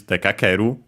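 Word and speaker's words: 出かける: out, to go out, we get this dekakeru, unaccented, so be careful, despite both verbs being accented on their own.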